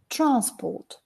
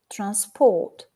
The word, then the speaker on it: transport: we've got the noun transport if we put it on the second syllable we've got the verb transport so improved rail transport